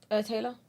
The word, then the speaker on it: Taila: is it Tyler or Taylor? Taylor.